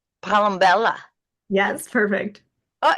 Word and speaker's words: Palombella: And your last name, Palombella.